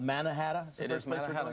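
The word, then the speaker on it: Manahatta: want to warn people I'm not mispronouncing the name Manhattan it's correctly called manahata that's the first place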